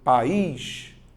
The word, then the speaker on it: país: vai te ajudar então você vai fazer país ó eu tenho duas sílabas país se eu tenho